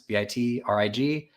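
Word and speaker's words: Bitrig: It's spelled like it sounds. Bit Rig, uh, Bitri app on Twitter.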